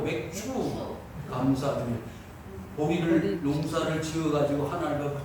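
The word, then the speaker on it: 맥추감사주일: 발음을 잘해야 돼요. 맥주가 아니고 맥주 감사주의.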